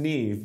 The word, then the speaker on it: Niamh: It's pronounced Niamh, but it's spelled in a different way.